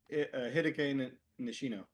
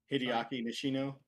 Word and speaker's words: Hideaki Nishino: Herman Holst is the one step below the CEO of Hideki Nishino. I know I mess up pronouncing his name too. It's fine. Hideaki Nishino.